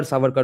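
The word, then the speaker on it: Savarkar: How much of a great truly a scholar Saukar was not just an ideologue of a random idea that wasn't how Surker operated.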